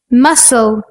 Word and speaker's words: muscle: Like the letter C in muscle, scent, scissors. When we put C and H together, it sounds like ch.